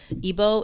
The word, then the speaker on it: Igbo: itself was coined perfectly because ebo is spelled IG Bo and it's like it can't be e Bo without IG B so that that was